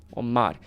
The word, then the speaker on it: Omar: Omar, the way I pronounce it, I make it sound like the R has like a tap sound, like Omar.